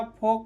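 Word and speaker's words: folk: एल का उच्चारण नहीं हो रहा है, ठीक है। वैसे ही योक हो गया, फोक हो गया, ठीक है।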